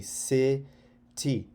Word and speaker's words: city: Okay, if I zoom in, CI means when there's an I after the C, it means it's a soft C. So you would say city, city lights.